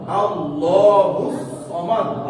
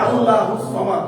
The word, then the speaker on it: আল্লাহুস সামাদ: মোটা করে, পুর কইরা, মোটা করে উচ্চারণ করতে হবে।